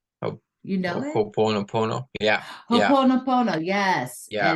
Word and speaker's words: Ho'oponopono: And I'm gonna probably mess up how to say it, but it's called a Po- Ho'oponopono. ho- You know it? Ho'oponopono.